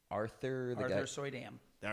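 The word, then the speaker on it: Suydam: question about as far as um I cannot pronounce his last name Arthur gu Arthur soy Dam all right thank you um Marvel Zombies yes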